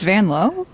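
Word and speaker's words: Vanloo: It's Vanlow. Yeah, she said in her country, which is uh Belgium, it's pronounced the O is O. So, it's really Van Low, but she just let folk get away with it.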